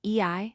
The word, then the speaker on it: Ie: He is also the great averter of evil, and his names from the cries Ie circumflex, pronounced Ei, and Paean, cries for healing or for the frightening away of evil influences.